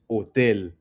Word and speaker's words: hotel: It's not hotel or hotel, right? It's hotel.